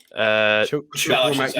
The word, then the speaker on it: Chukwuemeka: How do you pronounce the surname? Chukwuemeka.